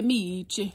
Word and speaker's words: Meech: Last time I showed him, I mispronounced his name, but it's baby Meech.